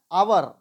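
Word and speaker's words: hour: लोग क्या करते हैं ह को साइलेंट साइलेंट कर देते हैं जैसे हम लोग इसको क्या पढ़ते हैं अवर अवर यानी यहां ह साइलेंट है आवर्त ओनर यानी एस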